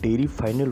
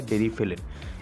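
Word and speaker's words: Deriphyllin: इसे कई लोग डेरी फाइनल बोलते हैं, लेकिन इसका सही प्रोनाउंसिएशन होता है डेरीफिलिन।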